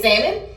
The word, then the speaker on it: salmon: They said I can't say salmon because you're not supposed to pronounce the L. So really? It's salmon.